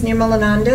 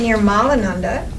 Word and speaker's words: Nirmalananda: Most people say Nirmalananda. Nirmalananda means you have no beads. Nir means no, and mala means beads, the bliss of having no beads. But I have beads, and I have more beads in here. Nirmalananda, mala means no inner blockages that keep you from knowing yourself. So Nirmala is a great promise, and if you mispronounce it, it says the wrong thing completely.